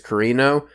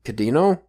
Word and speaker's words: Kirino: It's hard for me to say the R's in Japanese because it's between a L and a D, but sometimes it's still pronounced R, but like, for instance, Kirino, I think it's actually Cadino, or like, it's hard to say. I can't do the D and L at the same time.